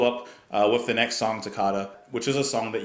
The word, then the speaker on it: Toccata: I hope it's pronounced Toccata. Is like ricotta?